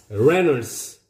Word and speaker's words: Reynolds: Reynolds. Y가 묵음입니다, 여러분들. Y를 발음하면 안 되고요. Reynolds.